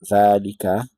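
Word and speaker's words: ذلك: So this is what is pronounced Dhalika, and elongated Dha, but what is written is Dhalika.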